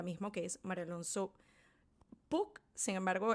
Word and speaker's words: Puig: que es Mario Alonso Puig. Sin embargo, el apellido se deletrea P-U-G-I como Puig, pero me parece que es Puig la pronunciación.